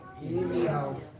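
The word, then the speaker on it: ירמיהו: Como é que é a pronúncia do nome Jeremias no hebraico? Irmial.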